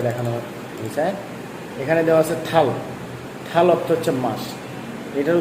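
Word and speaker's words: 달: যেমন আমরা এই জায়গায় যদি দেখি, এই যে এই জায়গায় দেখেন সুন্দর করে দেখানো হয়েছে, এখানে দেওয়া আছে থাল। থাল অর্থ হচ্ছে মাস। এটার উচ্চারণ কী হচ্ছে তাহলে?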